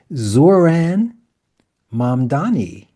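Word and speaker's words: Zohran Mamdani: And here is Zoran Mamdani.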